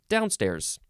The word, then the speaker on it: downstairs: The second form of downstairs, the first syllable is emphasized more, downstairs.